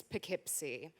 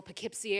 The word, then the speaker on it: Poughkeepsie: new job in glamorous poughkeepsie now for the uninitiated poughkeepsie is spelled with a silent g which leads me to believe that uh even the founders didn't want anyone to find it uh but the job